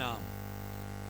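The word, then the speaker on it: alms: please give मम एन आम अरे आम नहीं बाजू की बात नहीं कर रहा आम आम आम मैंगो भी नहीं बात कर रहा हूं इसमें ए साइलेंट होता है एक्चु में आम का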